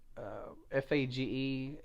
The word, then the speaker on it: Fage: up you can do nonfat non-sugar Greek yogurt fa GE it's pronounced Fage but it's spelled FA ge there's